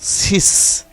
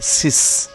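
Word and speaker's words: six: এরপরে রয়েছে সিস। সিস বানের শেষে ইক্স রয়েছে এবং এর উচ্চারণ এখানে সয়ের মতো হয়েছে, সিস।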